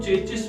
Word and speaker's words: chassis: तो चेसी को चेचिस भी बोलते हैं, चैसी भी बोलते हैं, अलग अलग तरह से उसको प्रोनाउंस किया जाता है, अलग अलग तरह से उसको अपनी वोकैबुलरी के अकॉर्डिंग लोग हाईलाइट करते हैं। But this is actually in basic automobile technology this is called चेसी की अगर हम बात करते